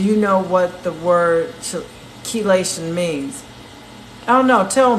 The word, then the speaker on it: chelation: And I was saying it wrong. I was saying chelation until Queen Randy corrected me.